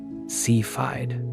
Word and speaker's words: Cepheid: To their great surprise, astronomers identified two faint pulsating objects deep in the background as sephiid variable stars, often pronounced seafide variables.